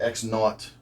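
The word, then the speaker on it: x₀: one point that's what the X 0 and the y 0 we pronounce that X naught and y naught okay that's what those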